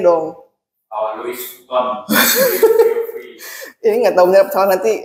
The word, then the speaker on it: Louis Vuitton: Bacanya dong. Louis Vuitton. Ini nggak tahu benar salah, nanti kamu bilang benar salah ya. Louis Vuitton.